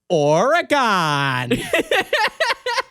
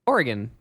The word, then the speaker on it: Oregon: what and they're like Oregon wait how are you supposed to say it organ organ like think of organ but with a little uh in it like organ yeah that is that